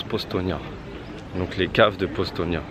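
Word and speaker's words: Postojna: suis parti à postaux ça s'écrit postogena pour nous et mais ça se prononce postnia donc les caves de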